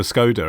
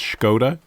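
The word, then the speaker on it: Škoda: It reminds me, I did a voiceover once for Skoda, and apparently that's Skoda.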